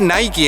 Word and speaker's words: Nike: Creo que se dice "naiki" en inglés, ¿eh, Lele?